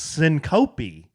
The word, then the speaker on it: syncope: One of our live studio audience members says, "No, you dummies. It's pronounced syncope."